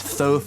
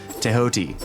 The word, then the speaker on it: Thoth: Thoth is how people say it, or Thoth, but it's actually pronounced properly pronounced Tehoti, right?